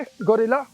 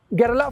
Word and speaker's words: Guerrilla: तो यह थी आपके लिए गोरिल्ला 450 या gill कह लीजिए। जैसा लोग कहना चाहे प्रोनाउंसिएशन आप पर डिपेंड करती है। कंपनी इसे gerl 450 ही बुलाती है।